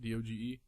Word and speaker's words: Doge: Is that how you pronounce it? D-O-G-E?